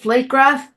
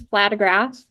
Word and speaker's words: Flatograph: And speaking of that, Meg, is it Flategraph? It's Flatograph.